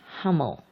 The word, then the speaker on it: Humil: This warrior trait is taught by our animal friend the camel, whose name is Hummel, which is spelled Humil, the first 5 letters of the word humility.